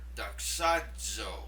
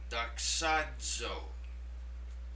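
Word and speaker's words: δοξάζω: Now, in chapter 1, we'll see the word doxazo, I glorify. Let me say it again, doxazo. It makes the dz sound in the middle of that word, z.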